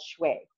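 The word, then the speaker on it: 血: In Chinese medicine, it's actually called shui, which is spelled X-U-E.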